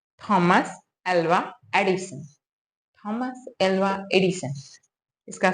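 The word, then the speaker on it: Thomas Alva Edison: मतलब परिचय भी हो उसका नाम क्या है थॉमस alloy एडिसन थॉमस alloy एडिसन इसका स्पेलिंग क्या है टी एच ओ एम ए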